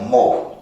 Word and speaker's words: mho: And this word मोव is nothing but Om spelled reverse. का मतलब ओम का जो स्पेलिंग है OHM, उसको आप उल्टा लिखो तो क्या लिखोगे, MHO, दैट बिकम्स मोव।